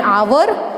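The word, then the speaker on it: hour: रहा है, जैसे कि एन आवर, एन ऑनेस्ट, क्योंकि इसमें एच जो है वो साइलेंट है, इसलिए इनके आगे क्या लगेंगे, एन लगेंगे, ठीक है।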